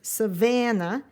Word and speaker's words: savannah: showing how that's pronounced so you give the middle the middle sound some umph savannah in africa it is